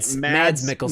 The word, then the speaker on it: Mads Mikkelsen: Mads Mikkelsen.